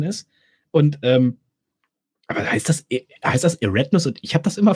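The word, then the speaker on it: Eridanus: Eratnus. Okay. Die sagen nicht Eridianus dazu. Die sagen Eratnus.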